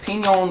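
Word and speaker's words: piñón: New Mexico, pinon wood. Why do you say it like that? Because there's an enye. Ooh. It's an enye. The little squiggly guy.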